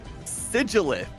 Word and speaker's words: Sigilyph: And today we have Sigilith in I think that's how it's pronounced. I mean it. So it's pronounced like it ends in th even though it ends in ph.